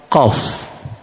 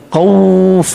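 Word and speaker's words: ق: salah perkataan dalam surah qf macam mana hejaan qaf qaf Alif Fa jadi bila kita nak sebut permulaan dia kita sebut Q nampak jangan kita sebut macam orang kampung qf tu salah nah baik Allah mula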